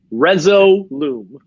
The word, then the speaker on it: Resolume: yeah yeah okay somebody somebody asked me to spell that it's r-e-s-o-l-u-m-e reso loom all right so i